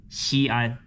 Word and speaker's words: Xi'an: Yeah, it's pronounced Xi'an.